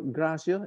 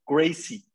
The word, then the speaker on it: Gracie: We are not even talking about Helio Gracia. Is it Daniel? Is that true? Is that I pronounce right?